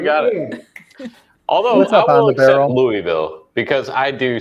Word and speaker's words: Louisville: do you pronounce that Louisville Louisville nope nope nope did I say it wrong Louisville Bakers how do you say itou Bakers Louis he got it you gotta you gotta slur it as much as possible